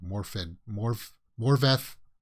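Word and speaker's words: Morfydd: Morveth Clark is how you pronounce it. The D's are apparently pronounced with like a TH.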